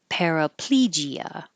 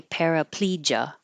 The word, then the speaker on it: paraplegia: Paraplegia. This gia here can be gia, or just ja. So you can say paraplegia or paraplegia.